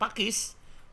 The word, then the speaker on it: Paques: di channel nya Pak Pakis Pakis yang tertulis paques maklum + 62 jadi rada-rada parah nih kalau buat saya juga baru tahu Pakis dibacanya pake Pak wes dibacanya Pakis Jangan sampai salah ya teman-teman Dan ini ternyata di